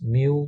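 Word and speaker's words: μ: this is also a Greek letter and is pronounced as me so it's mu with a little zero at the bottom now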